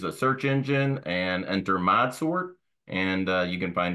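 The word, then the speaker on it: ModSort: you can use a search engine and enter mod sort and uh you can find us several different ways there and mod sort is spelled m o cap s o r t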